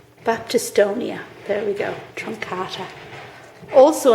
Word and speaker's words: Baptistonia: I always get this name wrong. Baptistonia.